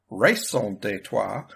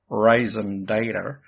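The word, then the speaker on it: raison d'être: explain the reason detour race on detour or as I heard it once pronounced on an American movie Raisin data for this show I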